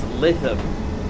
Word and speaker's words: Lytham: The bloke on the announcement says it's Lytham for pronunciations, but Slithorp says that it's actually pronounced Lytham with a hard T.